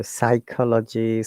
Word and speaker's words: psychology: So in the PS clusters, P is silent and there are many words.